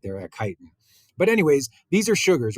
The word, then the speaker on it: chitin: it's kind of pronounced it's spelled with a CH but it is pronounced chitin and so chitin right here these are